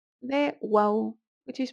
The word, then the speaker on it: و: The wow, that is pronounced as an u, may be transcribed as a w if it's written especially at the beginning of the word so that it doesn't look weird, and it may also be pronounced as an o in certain regions.